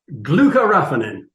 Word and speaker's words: glucoraphanin: us what it is and what it does glucoraphanin okay what okay what is it and what